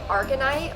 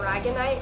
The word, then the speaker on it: aragonite: I have 2 different pieces of argonite or aragonite, depending on how you like to pronounce it.